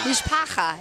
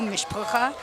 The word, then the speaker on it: Mishpacha: I was also saying some people pronounce it with like the U, Mishpacha.